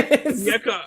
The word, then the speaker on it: Onyeka: Onyeka. I call him Onyeka. And you always get Korkmaz's name wrong too. Wait, what is it again? Onyeka what? Onyeka Okongwu.